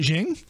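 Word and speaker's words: Qing: shing how do you how do you pronounce q-i-n-g as a chinese dynasty is it jing jing is it jing yup isn't jing with an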